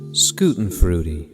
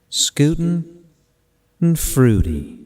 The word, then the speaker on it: Schadenfreude: Nih, kalau ribet nyebutnya pelafalannya seperti ini nih. Schadenfreude. Schadenfreude.